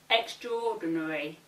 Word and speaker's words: extraordinary: The same applies to the following words: every, different, interest, and extraordinary. Every, different, interest, extraordinary.